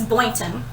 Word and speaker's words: Boynton: was listening to it she was like it's boynton boynton boyton unless i mispronounced it but i think she said it's